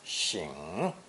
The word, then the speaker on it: 省: In this expression, the second character is pronounced 醒, not 省.